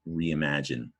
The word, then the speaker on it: reimagine: eye goes down below it says rum in the beginning but up top it's r.e.m alright it's two syllables not just one it's because of that I I call it the lost eye all right I want